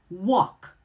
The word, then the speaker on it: walk: You're going to see that LK pattern at the end of words. When you see the LK pattern, that L is either going to be silent or barely heard, so it's very unstressed, like walk, talk, or chalk.